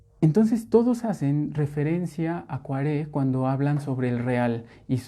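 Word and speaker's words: Koyré: Hace poco aprendí que se pronuncia Poiré, yo siempre lo pronunciaba Coiré. Pero no, ya hasta lo puse así de eso que pones en Google y te dicen cómo se pronuncia. Y sí, efectivamente, incluso si lo buscan en la página, viene pronunciación y es Poiré. Entonces me voy a referir a Poiré cuando bueno, como advertencia, no es Coiré, sino Poiré, por si lo escuchan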